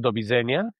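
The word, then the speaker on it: do widzenia: Es Dobisenia. Dobisenia. Dobisenia. Dobisenia. Do Bisenia. Do Bisen. Sería do bienenia. Bien, pronuncias bien.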